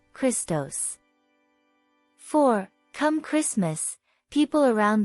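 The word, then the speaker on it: Χριστός: the Greek word for Christ Ciro Iota sigmat pronounced Christos four come Christmas people around the world enjoy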